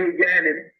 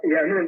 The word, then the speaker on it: Yanun: They say Yanin. It's pronounced Yanun, depending on the dialect of what galaxy you're in, the pronunciation changes.